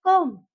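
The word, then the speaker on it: comb: जैसे यहाँ पे देखिए कॉम्ब, ये कॉम्ब नहीं बोलते हम उसको, हम इसको बोलते हैं कॉम्ब। बी साइलेंट होता है यहाँ पे।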